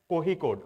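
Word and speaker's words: Kozhikode: it is written as kicode but it is pronounced as kohi code okay got a special recognition for sustainable development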